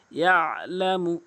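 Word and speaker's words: يعلم: ইয়ালামু অধিকাংশ লোক আইনের উচ্চারণ করে না, ইয়ালামু বলে, অধিকাংশ লোক ইয়ালামু বলে।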